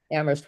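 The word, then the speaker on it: Amherst: uh you know you go with high expectations and it's always disappointing that even though Ammerst where only the H is silent you really uh often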